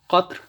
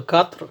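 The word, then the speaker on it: قَطْر: upper vowel on this, qatr, and then you have qitr, and then you have qutr. So qatr, qitr, qutr. So these are three different words. They are pronounced similarly. The only vowels change.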